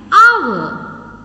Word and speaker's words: hour: and r and honor when we are pronouncing these words in these words h is silent so because of that we are pronouncing these words with the vowel sound that is an hour and honor like these